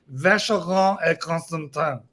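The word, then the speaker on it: Vacheron Constantin: the trick, which is when speaking French, you must twist your face into the most arrogant, hateful position, and then it will flow. Vacheron et Constantin, Patek Philippe, Aldimar Piguet, and you say it like you're cursing at a homeless bum on the street. That's how that works.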